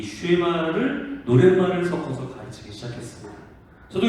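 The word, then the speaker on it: שמע: 그래서 들어라라는 말을 슈에마 혹은 슈마라고 발음할 수 있는데, 이것이 히브리 사람들이 가장 중요하게 여겼던 하나의 성경 구절이었습니다.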